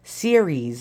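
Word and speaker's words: Ceres: I mean incorrect or series I think no not like Siri on your phone I think it was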